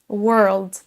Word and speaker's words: world: Pour tous ces mots, on va prononcer une syllabe, une voyelle entre un son E et un son E. Ça nous donne work, word, world. Pour chacun, on va traîner un petit peu sur la syllabe, mais c'est exactement la même prononciation pour ces trois mots.